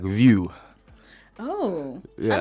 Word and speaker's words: Vieux: And South Africans, they go VieuX. Yeah. Like, you guys are ruining this name. It's the black pronunciation.